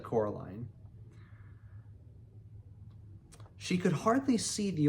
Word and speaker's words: Coraline: You know, they kept saying Coraline, not Caroline, not Caroline at all.